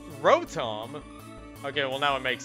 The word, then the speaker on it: Rotom: For the longest time, I've always pronounced the Pokemon species Rotom. That's how I pronounced it as a kid. And then I heard a lot of people pronouncing it Rotom, so I just started pronouncing it that.